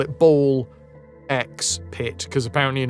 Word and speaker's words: BALL x PIT: The normalies the normies call it ball x pit cuz apparently you're not supposed to or they call it ball pit cuz you're not supposed to pronounce the x but the x is